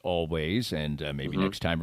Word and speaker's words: Alvvays: good show it's always it's spelled with two v's but uh it's pronounced always and and maybe next